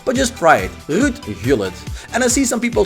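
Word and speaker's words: Gullit: I must say Hullet by the way because I'm a Dutchman and you see Rut Hullet. That's actually how you pronounce his name.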